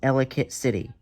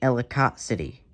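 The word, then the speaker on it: Ellicott City: Two, it's Elicate City, not Elicott City.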